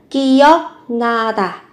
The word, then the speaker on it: 기억나다: Cái dòng chữ thứ ba màu xanh này chính là phần mình mở rộng phần phiên âm, viết là 기억나다. Nhưng khi phát âm các bạn biến âm là 기억나다.